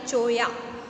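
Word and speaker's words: cholla: चोया, यहाँ पर चोला स्पेलिंग लिखी है जिसको प्रोनाउंस करना है चोया।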